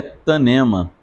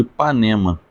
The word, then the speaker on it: Tanema: né terceiro Reino é tanema então é interessante falar sobre este reino corrigindo a pronúncia que algumas pessoas ao falar ou cantar sobre este reinado erroneamente o chamam de Ipanema Panema é o mal